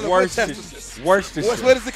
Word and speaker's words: Worcestershire: How do you say it? How white do you want this to be? We're talking about Wonder Bread. It's called Winchester. Worcestershire.